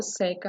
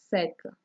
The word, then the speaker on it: seca: Porém, a pronúncia é diferente. Reparem, o sol seca. O sol seca por causa da seca.